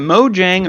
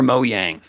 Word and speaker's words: Mojang: Is it Mojang or Mojang? Because I've heard it both ways, boys, and we need a resolution on this. People at Microsoft now say Mojang.